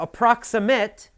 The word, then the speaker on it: approximate: Now, approximate is an adjective, and you have to listen carefully. The pronunciation is different for the verb and the adjective. As an adjective, you say approximate.